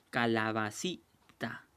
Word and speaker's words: calabacita: Por ejemplo aquí, calabacita. Entonces, si te das cuenta, aquí la mayor fuerza de voz está en la sílaba sí.